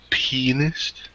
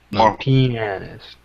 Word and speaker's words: pianist: playing as well so he's a penist no pianist I dude people like I've been hearing people pronounce it penis like constantly that's MTH